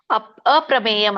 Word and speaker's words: ಅಪ್ರಮೇಯಂ: ಮುಂದೆ ಪ ಮ ಆದಮೇಲೆ ಯಾವಾಗ ಯುವಲಿ ಅ ಅ ಅ ಅನ್ನೋದನ್ನ ಸೇರಿಸಲೇಬೇಕು ನೀವು ಅಪ್ರಮೇಯಂ ಅಂತ ಬರುತ್ತೆ ದೀಪ್ತ ನಲಾರ್ಕ ದ್ಯುತಿಂ ಅಪ್ರಮೇಯಂ